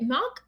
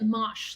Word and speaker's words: Mach: Is it Mach or is it Mosh, like machine?